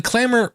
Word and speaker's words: Clammr: Clamor is spelled Clammr.